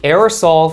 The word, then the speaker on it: aerosol: 그래서 이걸 지읒으로 외래어로 옮겨오기 때문에 또 지읒 발음하시는 분들 계실 수 있는데 aerosol, sol, S 발음을 하는 게 영어 발음으로 맞습니다. 자, 그러니까 The aerosol from e-cigarettes is not harmless.